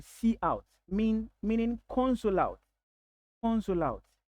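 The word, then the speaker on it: cout: one keyword called SE some people pronounce it to be C but then it is best to pronounce it to be see out mean meaning console out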